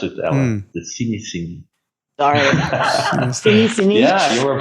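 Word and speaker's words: Cinéscénie: So it's cine from cinema, Cinesceni, and now scenic. I got it. And from scenic. From scenic. Wait. Yeah. So it's scenic cinema. That's basically what you're doing. So Cinesceni.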